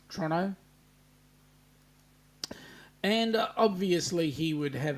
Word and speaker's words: Toronto: come on down Rob it's pronounced Toronto because it is it's got the T in there it's Toronto yeah not like you lazy conects Toronto and obviously he would